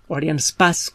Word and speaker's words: Arianespace: suceden accidentes por ejemplo arianespace arianespace como donde se debería pronunciar porque más bien francesa el fábrica entre